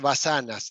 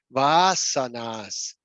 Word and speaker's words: vasanas: se pronuncia y es no es basanas es vasanas Por qué el acento